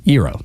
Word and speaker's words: gyro: So interesting that y'all both pronounced the word right, gyro.